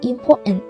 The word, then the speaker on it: important: Còn với từ important thì mình thấy chữ TN đứng cạnh nhau đúng không? Thế thì chúng ta sẽ đọc một chữ N thôi, còn chữ T câm mình đọc là important.